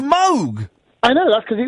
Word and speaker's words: Moog: like the mo the moo synthesizer is actually pronounced Moog I know that's because it was his name